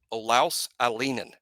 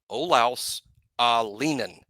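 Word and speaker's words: Olaus Alinen: Olaus Alienen. That is how his folks say his name. Olaus Alienen. Emphasis on the ah, but the middle part is Lee, pronounced Lee Alienen.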